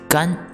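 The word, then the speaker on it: 干: two three that's it the second one is gun g-a-n first tone it means dry or a be pronounced as gun g-a-n fourth tone it means do or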